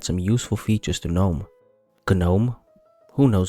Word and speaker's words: GNOME: you can add some useful features to gnome gnome who knows how it's pronounced like this live system monitor this clipboard